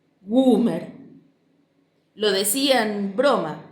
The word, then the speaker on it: Gumersindo: papá cuando le preguntaban, y lo pronunciaba haciendo más gutural la U, como si esa vocal estuviera doblemente acentuada y durara mucho más que cualquier otra letra. Goomer.